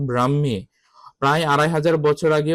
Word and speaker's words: ব্রাহ্মী: অনেকে উচ্চারণ করে ব্রাক্ষী। এটা ব্রাক্ষী না উচ্চারণ হবে ব্রাহ্মী।